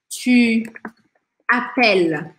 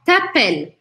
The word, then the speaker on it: tu appelles: O ES eu não pronuncio, mas aqui eu não poderia falar t'appelles, só numa linguagem oral e informal. Mas, de modo geral, eu vou falar tu appelles, tu appelles.